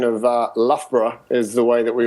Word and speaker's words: Loughborough: the top college you had a pretty good pronunciation of Loughborough is the way that we always pronounced that